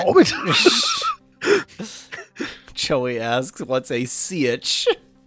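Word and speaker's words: sietch: Joey asks, what's a sitch? That is the correct pronunciation, unlike the pronunciation they're using. They're sieches.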